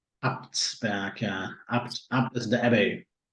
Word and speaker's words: Abtsberg: Abtsberg, am I pronouncing that correct? Abtsberg, yeah.